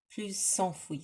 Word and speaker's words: plus enfouis: So because we got plus and then we got enfoui, I'm going to pronounce the S before the vowel. Plus s'enfuit.